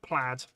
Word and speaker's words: plaid: Um Dave said pronounced plaid like dad but spelled not like that but yeah that's right.